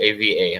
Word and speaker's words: Ava: Yeah, I spelled it AVA. I'm sorry about the pronunciation.